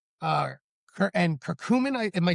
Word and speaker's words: curcumin: Turmeric, uh, and curcumin. Am I saying it correctly? Curcumin.